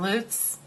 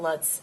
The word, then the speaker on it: Lutz: live in lutz and it's not Lots it's lutz i know i'm like always